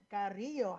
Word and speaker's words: Carrillo: It is Martin Carrillo. How are you doing, sir? Yeah, I'm doing fine, man. And I totally love how you roll your R on my last name.